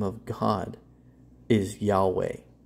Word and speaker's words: Yahweh: Jehovah Witnesses know that Jehovah's name is not Jehovah that Yahweh is the correct way to say it they know who did